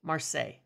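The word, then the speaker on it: Marseille: in principle with uh it's marsai Marse that's what it is Marse my God the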